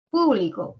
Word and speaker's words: público: ayudar a distinguir significados público por ejemplo el acento en la primera sílaba o en la antepenúltima significa que pertenece a